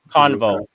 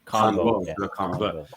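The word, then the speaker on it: Canvot: How do you pronounce it again, the surname? Convo, like conversation. Convo.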